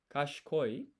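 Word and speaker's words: 賢い: So this is kashikoi, but you don't pronounce the I here, so this is kashikoi.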